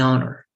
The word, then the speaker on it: honor: the hospital but an honor so both are starting with h but this H is unpronounced and the hospital's age